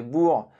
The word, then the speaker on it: Boers: Certains officiers anglais durant la guerre des Boers, oui vous avez bien entendu, j'ai prononcé comme il le faut, bref, certains officiers l'ont utilisé durant ce conflit en tant qu'arme de dotation privée.